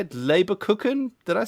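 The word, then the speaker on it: Lebkuchen: Gift Wrap, and, how do you say it, Leberkuchen? Did I say it right? Leberkuchen.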